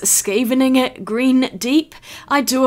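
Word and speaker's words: Scheveningen: been mispronouncing that word it is not chevin Yen I think it is skavening it green deep I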